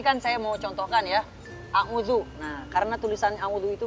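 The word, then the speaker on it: أعوذ: Nah, tapi karena ada titiknya, maka cara membacanya adalah a'udzu.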